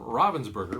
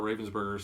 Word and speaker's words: Ravensburger: honorable mention is from Robbins burger which I think in our intro we actually mispronounced it I've heard a lot of people call it Robbins burger we've always called a Ravensburger so maybe we'll switch